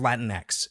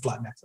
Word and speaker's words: Latinx: It's just Latinx. Like it's Latinx. It's actually, it's beyond parody Anglo. It's literally just that. Yeah. Right. And for those who aren't Spanish speakers, the NX phoneme doesn't exist in Spanish.